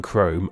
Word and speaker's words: chrome: silent G in gnarly, a silent H in chrome, a silent I in